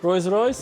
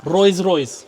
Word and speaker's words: Rolls-Royce: Mehran: Rois Rois, right? Omid: Rolls-Royce Dawn. Mehran: Wait, did I say it right? Rois Rois Omid: Rolls-Royce.